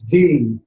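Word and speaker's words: dhi: These 3 together in a rainbow colored sphere of light, transformed into the sound of light itself, which is D. It's spelled D-H-I.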